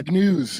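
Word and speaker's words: Brzezinski: He's the father of uh Mika Brzinski on Morning Joe Ball and uh Big News I think is how you pronounce it.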